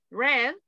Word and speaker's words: read: Read, leer. Read, leí. Pasado. Lo que cambia en este caso es la pronunciación. Read, present, red, pasado.